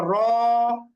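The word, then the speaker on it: ر: এরপরের বর্ণটা হচ্ছে র এখানে কিন্তু আমরা বেশি টান দিয়ে উচ্চারণ করবো না কেন কারণ র লিখতে বাংলা একটা মাত্রই বর্ণ ব্যবহার করি আমরা তাইলে র র এরপরে হচ্ছে জা জা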